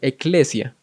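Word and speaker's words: ἐκκλησία: que no lo saben la palabra iglesia tiene un origen en el griego que es una palabra que se pronuncia un poco parecido que es eclesia Y esa palabra se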